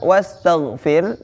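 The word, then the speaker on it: واستغفر: Di situ ada huruf gha, dan huruf gha bukan termasuk huruf qalqalah, maka tidak boleh diqalqalahkan atau dipantulkan. Wastaghfir. Wastaghfir ya. Dan di ujung di situ ada huruf ha.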